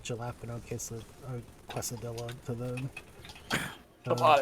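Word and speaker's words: jalapeño: I know it's jalapeno.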